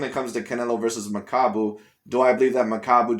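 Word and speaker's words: Makabu: ways to pronounce it it's either macabu or overall uh i forgot the other way that maybe i pronounce it but like there's no u in there there's no i in there it's like you know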